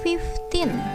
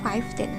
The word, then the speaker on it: fifteen: disini 15 berarti ya 15 itu book dibacanya fifteen bukan Five Ten Oke fifteen Miles Winda masih sering menemukan siswa yang ketika angka 15 membacanya five feat Keith strong itu salah ya kurang tepat yang benar adalah Vixion